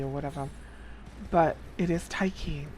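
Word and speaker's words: Tiche: or or TA or taii or whatever but it is taii it is Greek and she's related to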